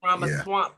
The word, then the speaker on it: Ramaswamy: Um it looks like Amy Acton won her primary in Ohio and Bibbick Vivek Ramaswamy Ramaswamy You said it right, Swamy.